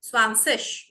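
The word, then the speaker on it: zwanzig: So see over here, my dear viewers and learners, IG I'm not pronouncing as a gi, ig. No, it is ish, 20.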